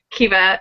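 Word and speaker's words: Caoimhe: anglicized form of um kiva which is filled with a lot of extra letters that are not pronounced genetically at least by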